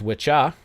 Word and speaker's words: wicca: And then there's witcha, which is down here somewhere. Yeah, witcha. It looks like Wicca, but it's pronounced witcha and witche.